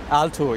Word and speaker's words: Altuğ: Heute bei mir Altug, oder ist das richtig ausgesprochen? Altug, ja.